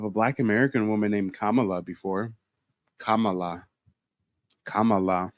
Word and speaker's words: Kamala: like we thought and her name isn't pronounced camela we butcher it we call it her camela no it's Kamala Kamala Kamala I'm a real black